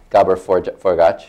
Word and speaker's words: Gabor Forgacs: First of all, in no particular order except the order on my sheet, in the middle here we have Gabor Forgacs. Did I pronounce it correctly?